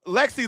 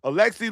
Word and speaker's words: Alexi: Because Lexi Lawless, buddy, listen, Lexi Lawless sounds like a loser. Not like Alexi. I want to pronounce his name properly. Alexi Lawless, former men's national